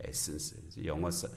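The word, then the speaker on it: Athens: 거룩한 도망을 통해서 그렇게 이 베레아까지 갔다가 베레아에서 다시 이제 아덴까지 아덴은 지금의 그리스의 아테네를 가리키는데 영어로는 이 아테네의 발음이 에센스입니다. 에센스.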